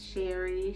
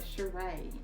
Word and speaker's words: Sheree: he did um okay talk about how everybody gets ceray's name wrong yeah um it's spell s-h-e-r-r-i so she gets sherry she gets what else does she get cherie she gets everything but sheree and it's not it's not cool like it's sure lions